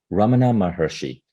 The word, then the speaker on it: Ramana Maharshi: lesson could you say that name again I'm mispronouncing it Ramana mahershi you've mentioned Ramana Maharishi in many occasions uh